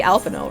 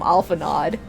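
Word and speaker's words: Alphinaud: At least I can say Alphino right. Even though half of the ARR voice actors call him Alphanod.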